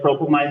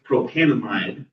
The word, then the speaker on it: propanamide: If you said propamine though, most people would know what you're talking about. But it's technically you missed the syllable.